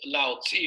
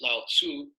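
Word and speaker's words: Laozi: the fourth in is Lao Zi or some people pronounce at Lao Tzu and again he also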